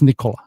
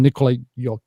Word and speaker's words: Nikola: It's Nikola. Same. They call him Nikolai.